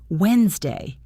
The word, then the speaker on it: Wednesday: What about words like Wednesday? Wednesday. Where does that silent letter come from? It doesn't feel relevant to the sound at all.